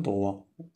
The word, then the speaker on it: droit: زاوية قائمة، un angle droit، un angle droit. تي ما كتنطقش، un angle droit.